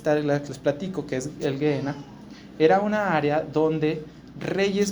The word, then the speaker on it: Gehenna: Bueno, la palabra griega que está ahí es una palabra que se pronuncia Gehenna.